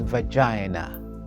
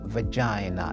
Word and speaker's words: vagina: of this word is vagina vagina is like saliva so from today on